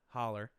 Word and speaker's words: holler: the back in the hollow. They sold the meat. No. Say it right. Holler.